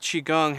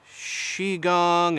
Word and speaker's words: Qigong: to spell it and I've heard it called qui gong and Qi Gong and ki Gong and other things like that the way we usually say it is just Qigong and even though it